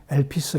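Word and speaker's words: ἐλπίς: 성령께서 되신 거룩한 마음으로 신약성경 헬라어 으로는 엘피스 라고 발음하기도 합니다 그래서 교회들 가운데 소망교회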